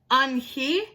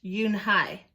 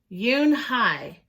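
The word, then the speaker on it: Unhei: "Your name is Eun-hee?" he asked her with his eyes open wide. Yoon-hae looked quickly at Mr. Kim, then turned to Joey. She nodded slowly. "Yes, it's pronounced Yoon-hae."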